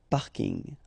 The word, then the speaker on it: parking: parking as well so I know it's coming from English but still you should pronounce it the French way Bing parking okay and the last